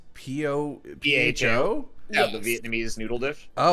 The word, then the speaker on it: pho: I went to the Texas State Fair last weekend and got some deep-fried crab balls, some deep-fried pho, and loaded fries pizza.